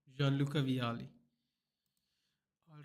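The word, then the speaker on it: Vialli: John uh Vitali right say his name Vitali played for him but Jeanluca Viali not Vitali sorry Jean Luca Vali all right this 95 5 CDM Nemana VidC Long Ball Aerial.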